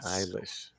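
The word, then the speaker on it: Eilish: think it was Billy Alish uh is that her name Billy Alish how do you say Billy ish is eish all right iish yeah iish yes that lady uh said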